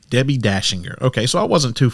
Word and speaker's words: Dachinger: Yeah, it's Dashinger. It has it's d a c because it's Austrian. So when in Germanic countries you definitely pronounce it differently, but here in the USA etc. we say Debbie Dashinger.